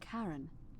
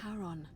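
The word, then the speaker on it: Charon: It's just as you described it, only your pronunciation is a little off. The name you heard wasn't Karen. It was the Karen A. Yeah. Okay. Okay. I got it right before she said it. Karon, the fairman of the dead.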